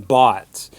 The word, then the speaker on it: bought: but in general terms, we can compare that with the American bought, which has more of an ah sound.